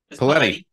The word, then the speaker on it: Paoletti: Because your last name rhymes with spaghetti. Paoletti.